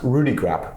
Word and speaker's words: Rudeegraap: yep we know that your name is pronounced Rudy crap Chris Rudy graphic tell